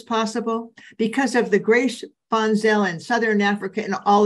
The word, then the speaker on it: Van Zyl: And Funsale is spelled V-A-N-Z-Y-L, but you pronounce it with an F-U-N, like fun.